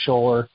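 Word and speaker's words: Schoeller: Scholler.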